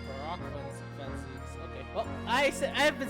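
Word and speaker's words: Barok van Zieks: Oh, I've been reading Baron Van Zeeks. That's Barak Van Zeeks.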